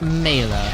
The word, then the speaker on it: Mela: Oh, it is Mela. That is how you pronounce it. Okay. It is pronounced Mela.